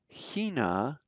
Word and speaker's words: China: volit finland belgium morocco hina that ch is like a guttural in the beginning hina brazilian just see